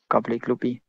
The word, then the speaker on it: Kabli klubi: “Kabli klubi” OK! Kabli’s club. Probably the difficulty of this tongue twister cames from the changed order of the consonats. Right? You have to change the k-l-b order to a k-l-b order.